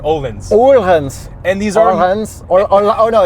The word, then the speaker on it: Öhlins: But the suspension is very, very good because we do have Öhlins. Yeah, Öhlins dampers. Öhlins dampers. Öhlins, guys. That's how you pronounce it because I am no longer attempting